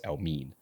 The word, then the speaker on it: Elmiene: Uh and yeah his surname is Elamin. Um but they say it as Elm. So he's tried to like spell it out of how it's said and so that's why it's Elmen.